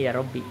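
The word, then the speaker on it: يا ربِّ: Biasanya saya bacanya ya rabbi. Jadi bisa bacaan yang bnya di situ adalah ya rabbi ya rabba kan tanpa alif situ. Jadi gitu baca ya rabbi ya rabba bisa bukan ya rabbu ya.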